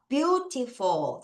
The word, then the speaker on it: beautiful: E-A-U가 와서 view입니다.